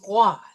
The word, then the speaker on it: roi: Now we see here that we have the OI, and the OI is wa sound, right? So it's going to be roi.